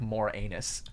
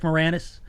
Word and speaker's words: Moranis: from the first time brent pronounced rick moranis as rick moore anus did i rick moranis there you go jesus i don't know